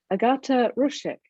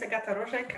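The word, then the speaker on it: Agata Rojek: thank you excellent um agata roshek and i'll apologize if i've mispronounced your name no it's okay uh my name is akata rojek i'm at the university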